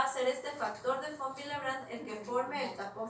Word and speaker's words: von Willebrand: es factor de von, y la W se pronuncia como B pequeña. ¿Sí? Entonces es el factor de von Willebrand. Factor de von Willebrand.